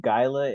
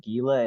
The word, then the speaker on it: Guilla: when I think about just think like Guillotine just without the team yes but not guia